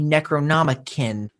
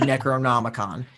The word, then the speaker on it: Necronomicon: large book and he thinks this is a necronom cringe I was so tilted when he misspoke the word Necronomicon yeah a necron it's not like instant regret